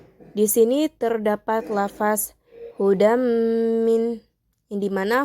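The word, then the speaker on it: هدى من: Di sini terdapat lafaz hudam min, yang dimana hukum bacaannya yaitu idgham bigunna, yang dimana huruf da yang berharokatkan berharokatkan tanwin ini bertemu dengan huruf mim, yang dimana cara bacanya pun harus dengung, hudam min.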